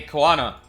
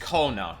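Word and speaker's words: Koana: yeah weird hey hey kanana or Kona I think it's just Kona right it's like one not kanana it's Kona the way people are pronouncing it in cutcenes is Kona I'm pretty sure so let me try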